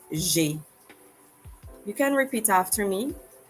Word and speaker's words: j'ai: J'ai means I have, and it's pronounced j'ai.